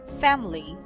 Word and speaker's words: family: are both schwa sound family family family we don't say family